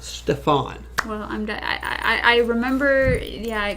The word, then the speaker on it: Stefan: Stefan. Stefan. There you go. Stefan. Is that Stefan? It's Stefan. A very big accent on the "an."